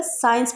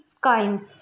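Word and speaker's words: science: Examples हैं इसके, साइंस, यहाँ पर सी से पहले एस आया, इसलिए यहाँ पर सी को प्रोनाउंस नहीं किया जाएगा, साइंस बोलेंगे इसको, ना कि स्काइंस।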